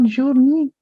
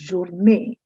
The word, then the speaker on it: journée: No, it's not journée. I know looking at the double E's, you would be wanting to say journée, but actually it's journée. As if there were N-A-Y, like day, it's pronounced similarly, journée, and it means good day.